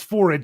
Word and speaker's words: Forrid: I know it's Forrid because she said it rhymes with horrid.